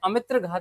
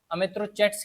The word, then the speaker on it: अमित्रघात: अब आते हैं अपने बिंदुसार जिन्हें अमित्रघात भी कहा जाता है। ठीक है? और अंग्रेज इनको फॉरेनर्स इनको अमित्रो चैट्स कहते थे क्योंकि वह अमित्र ग्रह को प्रोनाउंस नहीं कर पाते थे।